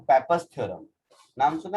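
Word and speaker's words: Pappus: पेपर्स का spelling है PAPPU, Indian language में उसको पप्पू प्रोनाउंस करेंगे।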